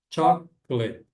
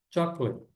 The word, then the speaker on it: chocolate: E essa palavra aqui, chocolate, são apenas duas sílabas na pronúncia, né? Chocle. Chocle. Prepara no chó, né?